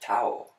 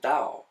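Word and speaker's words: Tao: was T a oh you don't pronounce it towel you pronounce it Dow it's a hard T okay so that's so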